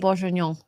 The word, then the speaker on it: bourguignon: Beef bourguignon. Beef bourguignon. It's actually pretty close to the French pronunciation. Boeuf bourguignon. Boeuf.